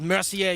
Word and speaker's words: Mercier: It's pronounced Mercier, you punk.